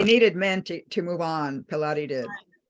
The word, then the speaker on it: Pilate: Pilate did. Right. Am I pronouncing her name correctly? Pilate. I'm sorry. Pilot. Pilate. Pilot. Pilate. You're still stuck on Pilates.